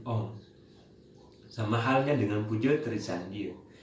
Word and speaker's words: Om: Kata Om itu berasal dari 3 kata. Ada kata A, U, M, Ang, Ung, Mang, yang digabungkan menjadi Aum dan diucapkan menjadi Om.